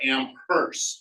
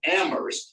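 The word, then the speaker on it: Amherst: that's a joke bie Bessie pronounces it ammer not amers with a hard H so I used to teaser about it until I Googled it and found out that in am ammer that's the way they pronounce ammer they say get the H out of ammer so I was right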